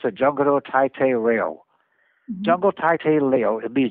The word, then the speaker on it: Jungle Taitei Leo: He was proposing another black and white series that he was calling Jungle Taitei Leo. They pronounce it Jungle Taitei Leo.